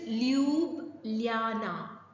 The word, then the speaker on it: Ljubljana: In this article, in this column, Shashi Taroor talks about it is Ljubljana. Ljub, J, the letter J is U, the pronunciation.